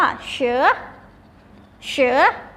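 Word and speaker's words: 蛇: อัน นี้ นะ คะ คำ นี้ อ่าน ว่า เชอะ เชอะ แปล ว่า งู ค่ะ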